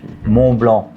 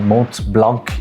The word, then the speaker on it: Montblanc: yourself, "Ow, I need one of those Meisterstück Montblanc." We don't pronounce the the C letter in the end. It's not Mont Blanc, it's Montblanc.